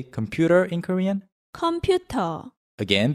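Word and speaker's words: 컴퓨터: say computer in korean computer again there is no r sound in korean so in korean you say computer without the r at the end computer so how do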